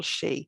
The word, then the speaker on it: sidhe: maybe middle irish and they all just are pronounced in the same way and it's all she and the reason that